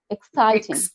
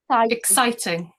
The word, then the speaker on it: exciting: underlined admit admit then exciting which one is underlying i think i is underlined exciting i think yeah second syllable exciting exciting exciting then perfect